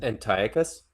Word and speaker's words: Antiochus: I I actually got into a discussion with somebody a while back about um Antiochus uh specifically in Antiochus.